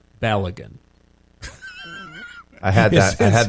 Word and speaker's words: Balogun: As contrast, I give you Folarin Balogun.